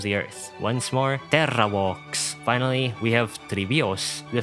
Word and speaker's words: Vox: Note that the letter V in Latin is pronounced like a W. The V sound, or the voice labial dental fricative, didn't actually exist in Latin.